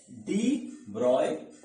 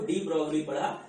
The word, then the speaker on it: de Broglie: ठीक है बच्चों, इनका नाम जो है एक्चुअली में प्रोनाउंस किया जाता है वो किया जाता है डी ब्रॉय, लेकिन मैंने बचपन से इसको जब स्टूडेंट था तब से पढ़ा तो डी ब्रॉगली पढ़ा, तो वो मेरी जबान पे रट गया है, तो डी ब्रॉय मेरे से कहा नहीं जाता। ठीक है, ये इनका ओरिजिनल प्रोनाउंसिएशन है, लिखा ऐसे जाता है।